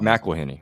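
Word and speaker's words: McElhenney: right after this trailer that what Rob uh meleny right is that how you pronounced his last name yeah sorry Mac from It's Always Sunny which we're okay Rob mckeny right yeah okay so Rob mckeny from It's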